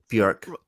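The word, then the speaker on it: Björk: Rolling Stone one time that it rhymes with work, not pork. Okay, Bjork, Yeah, Bjork, Yeah.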